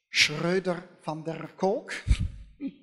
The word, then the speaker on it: Schroeder van der Kolk: Now this man, you pronounce the name in real Dutch, Schroeder van der Kolk.